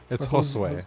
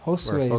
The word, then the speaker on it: Josue: Is that a different way of pronouncing or spelling Jose or? It's Josue. Yeah. Josue. Sorry, I'm not even close. Josue.